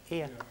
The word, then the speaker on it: ere: I'm not quite sure how you pronounce it, but I'd say ear.